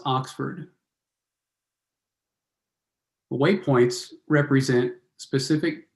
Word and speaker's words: OXFD: example on the right oxfd is pronounced Oxford way point points represent